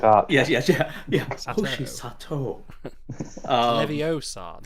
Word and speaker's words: Hoshi Sato: Hoshi Sato.